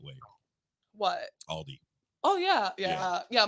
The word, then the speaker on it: Aldi: the right way what aldi oh yeah yeah yeah michael's very insistent on not adding the s to things like uno and aldi wait wait you say